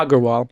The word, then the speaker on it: Agarwal: Hit that G on the second one. You hit it. Perfect. Agarwal.